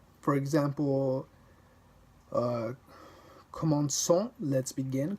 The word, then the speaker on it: commençons: The cedille indicates that you pronounce the C as an S. For example, commençons, let's begin, commençons.